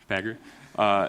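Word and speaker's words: Pagure: In Fedora, almost certainly it will be Pagger. I have the pronunciation right? Yeah, Pagger.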